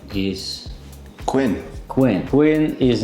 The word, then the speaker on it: Quinn: But why it's like saying same as a queen, but just the word, its letter is different.